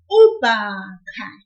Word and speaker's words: ubhaka: For the noun ubhaka, a backpack, we will pull the syllable ba a little, like this, ubhaka.